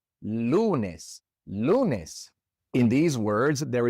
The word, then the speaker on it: lunes: Lunes ends with an S, and so again, the natural stress goes on the second to last syllable. Lunes.